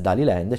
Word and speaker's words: Daliland: nelle sale arriverà da haliland o daliland non solo la pronuncia diciamo esatta dovrebbe essere tali Land cioè il nuovo film